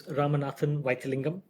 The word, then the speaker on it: Ramanathan Vythilingam: My full name is Ramanathan Vythilingam.